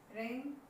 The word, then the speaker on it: reign: In all these words we have seen G is silent before and, before N or before H.